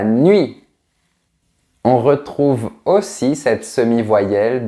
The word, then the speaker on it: nuit: de cette manière et c'est un peu comme le son u mais qui est prononcé très vite. Par exemple, la nuit, on ne dit pas la nuit, on dit la nuit.